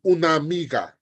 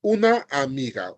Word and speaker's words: una amiga: in the sentence there it's going to be uniga not una Amiga uniga just like that same thing for nvdes